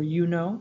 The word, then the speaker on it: Juno: her roman equivalent is Juno or yuno in Latin pronunciation she is queen of